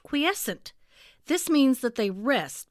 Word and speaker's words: quiescent: Did you say croissant? I am so hungry. No, it's pronounced quiescent.